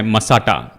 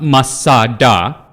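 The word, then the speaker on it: מצדה: के बारे में सुना होगा जिसका नाम है मसाटा या मसाडा जैसे इब्रानी लोग इसका उच्चारण करते हैं।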